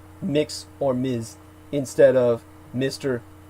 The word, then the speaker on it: Mx: per Marium Webster is mix you pronounce it as mix um as in mix